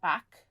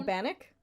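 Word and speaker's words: bannock: she also made uh not non bread but back I'm saying it wrong I know what I'm so sorry for killers of the flower Moon oh banic thank you banic she made homemade banic which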